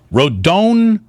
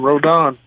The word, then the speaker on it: Rodón: Rodón, how do we get it perfect when you start for the Giants? You said it right the first time, Rodón.